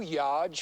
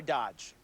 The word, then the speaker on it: Dodge: and the yge charger okay pronounce Dodge I don't want to tell you how to do your job pal but I'm pretty sure it's a a soft D let's just try Dodge all right hello America